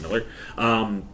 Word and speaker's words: Millar: I always say Millar because that's how it's spelled, but I believe it's pronounced Miller.